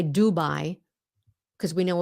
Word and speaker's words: Dubai: you know why because Dubai is pronounced the way the Vietnamese would pronounce it Dubai now we know that